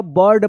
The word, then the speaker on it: bird: इसमें आई है, आई के बाद आर है तो क्या पढ़ेंगे? आई का अ उच्चारण होगा, बर्ड पढ़ेंगे।